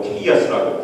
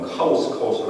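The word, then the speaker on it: chaos: 그래서 혼돈의 상태, 혼돈을 저희가 영어로 케이아스라고 부릅니다. 우리 한국 발음은 카오스라고 하는데 케이아스, 혼돈의 상태에서 질서의 상태로 하나님께서 만드신 거예요.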